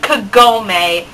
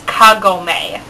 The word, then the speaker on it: Kagome: Mis mispronounce her name it's not Kagome it's Kagome like why do they emphasize that Middle s the syllable it just it sounds